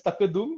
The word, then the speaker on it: tqdm: this package called tqdm so uh it is pronounced as takadum which in Arabic I believe means uh it